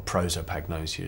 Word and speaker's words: prosopagnosia: a condition known as protop agnosia or prosopagnosia as the Americans pronounce it and I was playing